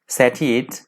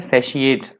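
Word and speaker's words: satiate: आज का जो हमारा पहला वर्ड है वो है सैटिएट। सैटिएट वर्ड यहाँ पे वर्ब की तरह यूज हुआ है। सैटिएट का मतलब होता है सैशिएट, ध्यान रखिएगा प्रोनाउंस किस तरह से करना है, सैशिएट।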